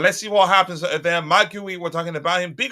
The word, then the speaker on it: Marc Guiu: I think he said Marc Guiu. That's how he pronounced Marc Guiu. Hello, Chelsea fans. My name is Marc Guiu. Something like that.